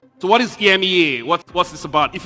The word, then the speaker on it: EMEA: when it comes to Ema talks as we say the the a is silent kin Uno believed he